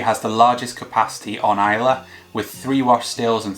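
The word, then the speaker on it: Islay: a really awkward name where is lay is pronounced Iowa the Iowa here is pronounced ela and the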